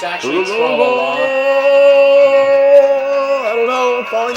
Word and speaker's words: Trololo: So, But you know, O's in Russian it's a thought are that usually counts, I pronounced guess. as A's, so really it's tra-la-la, not tro-lo-lo.